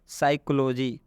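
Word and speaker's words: psychology: यहाँ पे स्पष्ट एग्जाम्पल लिखा गया है, जैसे यहाँ पर लिखा है साइकोलॉजी। यहाँ पर देखिएगा पी के बाद एस आया हुआ है, इसलिए इस पी का उच्चारण हम नहीं करेंगे। यहाँ पर हिंदी में भी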